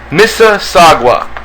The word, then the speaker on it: Mississauga: Mississauga, is that correct, guys? Mississauga. That sounds how you pronounce it? Oh yeah, Mississauga.